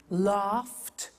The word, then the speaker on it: laughed: Now, when we add the ed, what happens is the pronunciation becomes T. We don't say watched, we eliminate the E and we say watched. Okay? Interesting, hey? So look at that. Watched, danced, eliminate the E, pronounce the T.